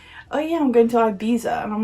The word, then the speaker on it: Ibiza: I've seen far too many Americans, yeah, I'm looking at you, pronounce this as Ibiza. It's Ibiza.